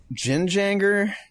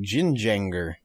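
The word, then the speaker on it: gjenganger: to say um so i think it's the jin janger it's it's it's a scandinavian it's spelled g-j-e-n-g-a-n-g-e-r so like jin jenger zhinjanger yaw like my eyes kind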